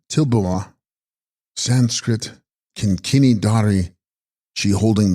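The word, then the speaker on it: Dril-bu-ma: Text Drilbuma, pronounced Tilbuma, Sanskrit Kinkini Dari, she holding the bell, the Shakti of Amrita Dara.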